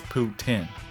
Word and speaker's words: poutine: the correct pronunciation is put zinn i don't remember exactly if that was correct or not but it was something like they were trying to sneak in a hard s or z in there put sin put zen